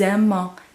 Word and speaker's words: aimons: We're going to hear that S because it's in front of a vowel. Nous aimons becomes a Z sound. And then we are going to hear the ON, but you're not going to hear the S again.